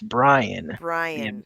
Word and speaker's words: Brion: Just real quick, Yeah, it's Brian, the Brian. Observer. I want to Yeah. say Brian. Brian? Well, just because it's spelled Brion, and people are like, oh, it's like there's something Byron.